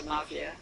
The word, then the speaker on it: Somavia: Somavia, he just told me to pronounce his name correctly. I was saying to Mrs. Somavia that whenever I meet people from South America,